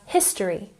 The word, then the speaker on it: history: Next we have history with emphasis on the first syllable.